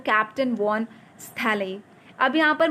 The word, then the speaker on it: Stahle: It looks as दो captain von स्थैले। अब यहाँ पर मुझे पता है कि ये STAHLE, इसका सजिस्ट प्रोनाउंसिएशन जो है वो ये है, स्थैले, ओके, क्योंकि मैंने चेकआउट किया है यूट्यूब पे।